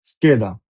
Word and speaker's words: scheda: যেমন SCHI SCHIE ske, maschio, MAS mas, CHIO chio, maschio, scheda, SCHIE ske viada, scheda। এখানে SCHI এবং SCHIE এর উচ্চারণ হবে স্কি এবং স্কে।